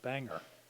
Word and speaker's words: Bangor: Washington with the name be a Ngor it's pronounced Bangor they don't know from Bangor but those places